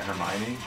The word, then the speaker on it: Hermione: I was very young I thought it was hermo or something I didn't know how to pronounce until the movies I was like what I'm trying to remember it yeah Hermione it's such a she's